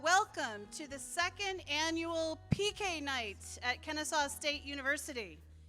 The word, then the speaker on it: PechaKucha: We thought we would get some more exciting pronunciations than that, but it is PechaKucha.